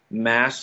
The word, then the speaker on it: Mads: And Le Chiffre, the villain who eventually was played by Mads Mikkelsen. Actually, that's not even how you pronounce his name. It's like Mass or something.